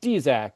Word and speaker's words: Dzyak: So, uh, below me you're gonna see, uh, Dzac. It's pronounced Dzac, even though it's spelled DZ Y AK.